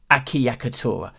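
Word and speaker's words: acciaccatura: acc iacc atora akiya katora yes that's right akiyakatura i think i've nailed that one in terms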